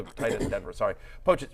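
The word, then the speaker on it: Pocic: How do I pronounce his? Pochit. I was going to say Dolchit. That's the tight end in Denver. Sorry. Pochit.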